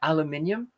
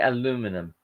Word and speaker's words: aluminium: um yeah but yeah aluminium uh and aluminum oh no i can't say it eliminate oh aluminum that's it i think the americans say aluminum um and michael says